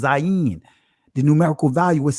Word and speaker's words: zayin: Zion. In the Israeli language, it's pronounced Zayin.